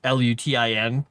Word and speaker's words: lutin: creature is called a lutin, a lute or lon, however they want to pronounce it in their Frenchy French way. It's l u t i n which sounds like lutin.